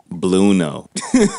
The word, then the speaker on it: Blueno: I thought it was like Spanish, but whatever, right? Like bueno, like bueno. Bueno, like bueno. Very good.